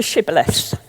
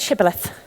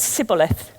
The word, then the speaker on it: shibboleth: They could only say it as Sibboleth.